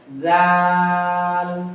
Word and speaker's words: ظ: জালের পরে কোন অক্ষর জালের সাথে লাগে না, ফাঁকা থাকে। দেন তৃতীয় অক্ষর যেটা জ, এটা হলো ইস্তেআলা বা মোটা ধ্বনি। এটাকে জা বলা যাবে না, জ।